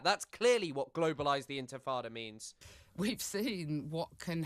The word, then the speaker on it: intifada: I think calling for to globalise the intifada can only... God, I love that shit. She can't even pronounce Intifada. She calls it Infatada.